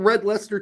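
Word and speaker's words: Red Leicester: ways that could have gone okay it's called red Lester cheese and she came up she says is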